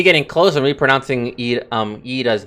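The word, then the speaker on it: Y'da: close and reponouncing um eda's name okay I'm so close to pronouncing it as yida because there's a y but but it's pronounced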